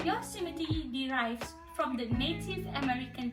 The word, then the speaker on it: Yosemite: Okay, the correct pronunciation of the name is Yosemite. The first O must be pronounced in an open fashion and not with a closed U sound like the word yo-yo.